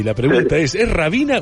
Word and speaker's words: Hrabina: Andar explicando, y la H acá como no se pronuncia es Rabina y otra cosa.